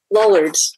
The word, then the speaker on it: Lollards: I've read that one of your areas of expertise is about the Lollards. Am I pronouncing that correctly? Lollards.